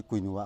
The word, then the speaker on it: quinoa: quinoa adu Hindi na quinoa dum haine mayam pronounce over da adu akoi English di quinoa akoi QUINOA quinoa na dum hai.